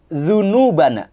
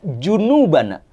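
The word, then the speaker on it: ذنوبنا: Allahumagfirlana dzunubana. Ya Allah ampuni dosa-dosa kami. Tapi banyak orang yang apa mengucapnya Allahumagfirlana junubana. Ya Allah ampunilah junub-junub kami.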